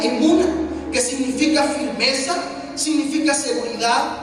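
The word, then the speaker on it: אמונה: Fe, cuando yo estudiaba este tema, estudiaba que fe es la palabra hebrea que se pronuncia emuna, que significa firmeza, significa seguridad, significa fidelidad, significa reino, veracidad, honradez, lealtad.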